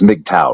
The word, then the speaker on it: MGTOW: on the MRA or the uh mtow it's mgtow right that's how you say it okay excellent